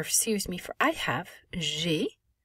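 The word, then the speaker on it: j'ai: me for i have g the a i is going to make an a sound well also notice that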